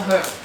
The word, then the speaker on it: herb: And then another Christmassy herb, as the Americans say. I don't know why they don't pronounce the H. It's a herb.